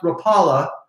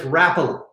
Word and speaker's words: Rapala: A lot of you think it's pronounced Rapala, but it's Rapala.